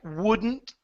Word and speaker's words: wouldn't: When you have words that like wouldn't, same thing. Wouldn't, couldn't, shouldn't. Okay? Mix the D and the N together. You're going to focus more on the N than the D.